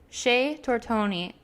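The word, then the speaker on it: Chez Tortoni: for the for the Shea tortone or tortoni Shea tortoni I was so proud of how well I pronounced it earlier and then I had to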